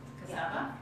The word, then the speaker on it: cassava: it would be coconut flour, almond flour, yes, cassava flour, and that how do you say it? Cassava?